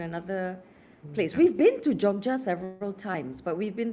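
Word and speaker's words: Jogja: It's pronounced as Joja.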